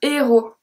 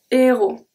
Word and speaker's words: héros: Next one, un héros. Un héros. Don't pronounce the H.